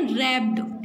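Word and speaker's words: wrapped: कैसे आते हैं, रैप्ड. तो इसमें क्या साइलेंट है, डब्ल्यू.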